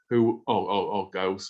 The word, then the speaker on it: Goss: Now, this all started because of William Henry Gosse, or Gosse as it's alternatively pronounced, who founded his company to produce a wide range of ceramic output.